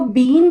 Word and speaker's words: been: Third form इसकी होती है बिन। बहुत सारे लोग इसको बीन प्रोनाउंस करते हैं, दैट इज रॉन्ग, तो इसका जो करेक्ट प्रोनाउंसिएशन है वो है बिन।